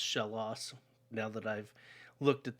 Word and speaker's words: Shellos: sea slug pokemon uh its name comes from a combination of shell and lost um because shellos or shell loss however you want to it's probably actually pronounced shell loss now that i've looked